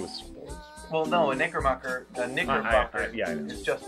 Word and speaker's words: Knickerbocker: a lot, but again, that's with a silent K, so whenever they would write it down, they would spell it wrong, which would make me laugh. So it's like, oh, you're a Knickerbocker.